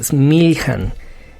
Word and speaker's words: Smiljan: Entonces, pues hablando un poquito de él, Nikola Tesla nació en un pueblo, y me disculpo si la pronunciación no es la correcta, es Smiljan.